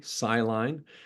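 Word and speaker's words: SciLine: scientist is something called sine that's spelled s c l i n e siline that's a group of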